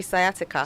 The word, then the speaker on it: sciatica: lumbar spondilitis and sciatica sciatic or sciatica right it should be sciatica sciatica right okay they just want to trouble me with pronunciation you want to relate to that rain hard.